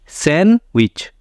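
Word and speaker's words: sandwich: है and last है सैंडविच इसको भी हम लोग कहते हैं सैंडविच लेकिन ये सैंडविच नहीं है सैंडविच यहां पे भी डी जो है य आपका है साइलें इसलिए सैंडविच गलत है सैन विच सैंडविच डी य पे साइलेंट होगा तो जब किसी वर्ड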